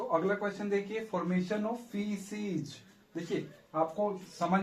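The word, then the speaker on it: faeces: में आ रहा होगा इसको फकस बोले इसको क बोलने की बात आ रही होगी आपको क्या बोलना है य प स और ए को क्या है साइलेंट कर देना तो आप क्या आएगा फीज ठीक है फीज तो फीज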